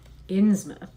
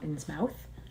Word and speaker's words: Innsmouth: And yesterday we started the shadow over Inmouth. Someone corrected me. They told me that it's Inmouth, not Insmouth.